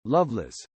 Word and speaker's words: Lovelace: married the band's drummer terry lovelace pronounced loveless the couple moved to